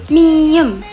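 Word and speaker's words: 미음: Oke, next yang paling gampang itu ada miem. Miem. Dia bentuknya cuma kotak gitu doang. Itu dia kalau di bahasa Indonesia itu seperti huruf M. Ya, namanya miem.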